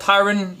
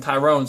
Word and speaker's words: Tyron: was commentating called in tyrone so I figured that was the the pronunciation but it's Tyron Tyron not Tyrone Tyrann apologies for that my mistake his name is tyron and not Tyrone but imagine the new